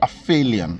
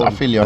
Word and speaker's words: aphelion: It's called aphelion. I hope I'm pronouncing it correctly. With a P, and an H, and an E. The PH would be F for English, right? Phonetically. L-I. Yeah, I think it's aphelion.